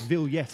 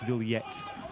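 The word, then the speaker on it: Vilhete: does get back up apologies for the pronunciation it's vil yet i think isn't it rob we did get briefed on the pronunciation but yes we keep referring to my crib sheet and the way that mauro's surname is spelt it's with a it's worth the hate but it's ville yet maroville yet the goal scorer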